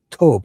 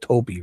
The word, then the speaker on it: Tobe: He spells it Tobe, but how do you pronounce it? Tobe, right? It's not Toby, right? It's Tobe.